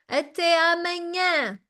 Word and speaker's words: até amanhã: that once again, people say it so fast that it sounds just like one word. Até amanhã, okay? But we say it correctly. We want to sound super nice, so we say até amanhã.